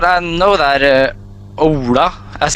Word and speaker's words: Ola: I know that Ola, as it's pronounced in Norwegian, is a pretty like typical the Ola Norwegian is a type of name for Norwegian.